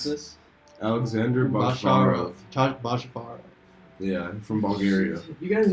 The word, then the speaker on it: Bachvarov: How do you pronounce this? Alexander Bachvarov. Bachvarov.